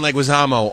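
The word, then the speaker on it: Leguizamo: was brought to you they said it right there John leguisamo also known as The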